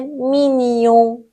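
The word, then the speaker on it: mignon: در نهایت باید ما اگر ژ و ان داشته باشیم اینا کنار همدیگه بیاد صدای نی میده مثل مینیو مینیو ان آخرش نزله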